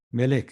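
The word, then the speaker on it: מלך: 이게 왕, 멜렉이라고 읽습니다. 멜렉. 멜렉.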